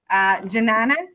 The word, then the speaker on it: Janani: how buddies gonna good janani DJ yeah I just assumed the J was a yen and I realized that it's not it's just pronounced the way it's written so you're saying the